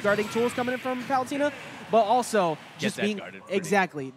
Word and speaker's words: Palutena: So onto the anchor for Palutena, and can you guys say it right? Palutena. That's what how I say it. But it's Palutena. Palutena?